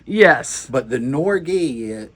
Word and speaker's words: Norge: But everybody around here has always called it Norge. Yes. But the Norge, some Norwegians came through one time and they said it's actually pronounced Norge.